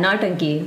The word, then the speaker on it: Nautanki: I'm gonna go for a pronunciation try here. Please let me know if it's wrong. Nautanki? Yeah, Nautanki.